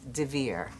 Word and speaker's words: Dver: Last name is spelled D as in David, V as in Victor, E-R. There are no extra vowels, there are no apostrophes, but it's the kind of name that when you see it written, you mispronounce it. If you hear it, you're going to misspell it.